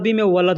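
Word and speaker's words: ولد: अरबी में लड़के को "वलाद" कहते हैं। और अरबी में देश को "बलाद" कहा जाता है। इसलिए "वा" और "बा" में अंतर है।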